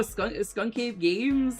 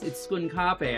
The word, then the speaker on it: Skunkape: I was like, oh yeah, no, Skunk Games? And then I was like, oh, it's Skunkape.